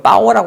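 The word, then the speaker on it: 豹: 그래서 그 빠오라고 그러는데 빠오가 중국어인데 복을 뜻하는 거하고 발음이 같다고 그래요.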